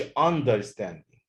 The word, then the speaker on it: understanding: guidance affection guidance understanding ما اقولش understanding، لا. the stress is on the second syllable on the third syllable.